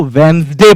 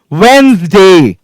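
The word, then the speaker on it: Wednesday: क्योंकि हम लोगों को बचपन में बताया नहीं गया था कि डी साइलेंट होता है वहां पे। मेरे भी टीचर ने मुझे वेडनेसडे पढ़ाया था, और बड़ा अच्छा लगता था पढ़ने में, WED, वेड, NES, DAY, डे, वेडनेसडे, पर एक्चुअली ये होता ही नहीं है, इट्स वेडनेसडे।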